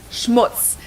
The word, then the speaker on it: Schmutz: And last but not least, the final word on my list is Schmutz. This one is pronounced and used the same way in both languages, and it means dirt.